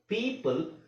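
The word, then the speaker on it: people: ಹಾಗೆ ಪ್ರೊನೌನ್ಸ್ ಮಾಡಬೇಕು ನೋಡಿ ಪೀಪಲ್ ಈ ಓ ಇಲ್ಲಿ ಓ ಸೈಲೆಂಟ್ ಆಗಿ ಇರುತ್ತೆ ಈ ಲಾಂಗ್ ಆಗುತ್ತೆ ಪೀಪಲ್ ಪಿಜನ್ ಇದೆ ಓ ಇದೆ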